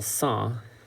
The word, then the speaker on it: cent: of people right and then cent is 100 like that's french for uh well song it's spelt like that uh is french for